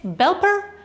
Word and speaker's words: Belper: canola but first let's talk about how we pronounce this cheese it's belper the k is not silent the canola word